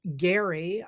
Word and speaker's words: Gerry: It actually comes from Elbridge Gerry. I don't, it's one of those things, that's how you pronounce his name, but they call it gerrymandering,